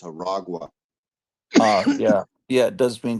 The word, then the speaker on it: Aragua: Yeah, we talked about it because in the beginning I got the name wrong, and I thought it was a Tren de Aranya, and I thought it was like the Oh, train of spiders, but it's Aragua.